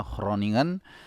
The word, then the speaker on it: Groningen: 0-0 dari Groningen ya kalau orang Belanda bacanya Roningan ee itu tadi ya